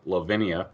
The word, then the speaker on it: Levinia: man you're the vocalist for a band called Lavinia I think I'm pronouncing that right you are pronouncing 100% correct